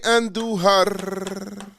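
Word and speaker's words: Andújar: Roll your R's when you say Andujar. Roll your R's when you say Andujar.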